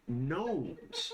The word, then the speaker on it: gnomes: Um well then there's there's actually a very large enclave of gnomes. Gnomes. different silent G word, right?